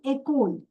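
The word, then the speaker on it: école: But when you see E with the slang line forward this E sounds as a this way a. Okay. So this what is echole. You can see both the e are there with and without. So with is a and without is. So this word is echole.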